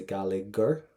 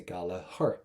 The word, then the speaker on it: Gallagher: We don't say gallagher, we say gallagher. Why? Because it comes from our Irish. So that's why the GH in the middle of the word, not going to pronounce it.